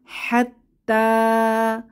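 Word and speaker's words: حتى: ইয়াকা অর্থ একমাত্র আপনাকে এরপর হাত্তা হাত্তা এখানে শেষে একটি আমরা খালি ইয়া দেখতে পাচ্ছি এটা উচ্চারণে আসবে না নো সাইন নো সাউন্ড তাহলে তা এটার উপরে আলিফ সগিরা বা খারা জবর আছে আমাদের এক আলিফ টেনে পড়তে হবে হাত্তা হাত্তা অর্থ পর্যন্ত তাহলে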